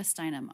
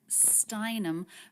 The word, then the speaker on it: Steinem: a proper noun now anytime we have a name it's the last word in the name that's the most stressed so gloria galore the stressed syllable there is stress but steinem the stressed syllable there to me is even more stressed gloria steinem steinem the stress syllable of her last name would be the most stressed in the group of her name gloria steinem glorious guaranteed